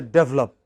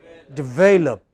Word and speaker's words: develop: misunderstood researchers show that in india we say develop and we are understood as saying double up how should we pronounce the first word develop what is it